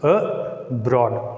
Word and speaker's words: abroad: When a word begins with a prefix A, we should put a stress mark on the second syllable. So here the word abroad divided it into two syllables, abroad, like that.